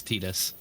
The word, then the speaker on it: Tidus: It's pronounced Tidus? Fuck that, Larson. I refuse. He's actually correct. It's Tidus.